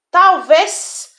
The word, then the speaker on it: talvez: Talvez no final se escreve com Z, mas tem o som de S.